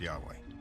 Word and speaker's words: Yahweh: knew God by his intimate personal name convention pronounced Yahweh passages with the name Yahweh which in German